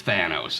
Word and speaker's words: Thanos: Well, I found out since it's, based on the Greek myth of Thanatos, and so it's Thanos, okay?